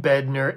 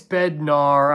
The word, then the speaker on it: Bednar: David bedner stuff yeah I keep calling him bedner it's Bednar I'm pretty sure um I don't know